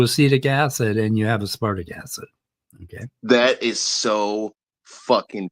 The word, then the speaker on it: aspartic acid: And if you pronounce, and don't say aspartic acid, like a wood tick, say aspartic acid, like damn, and that's a D. So aspartic acid.